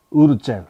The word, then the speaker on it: Wurtzel: 엘리자베스 우르첼, 그러니까 스펠링이 그 WURTZEL, 우르첼 이렇게 됩니다.